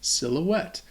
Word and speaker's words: silhouette: It's just silhouette. And it sounds, I think, the same in French.